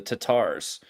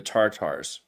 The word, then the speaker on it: Tatars: Tatars instead of the Tartars, right? So the Tatar means that they're using the more Persian. The Persians don't pronounce the R; they use an apostrophe kind of sound like that.